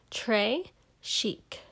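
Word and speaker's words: très chic: it like a bracelet trey chic you say it like this trey chic it means very fancy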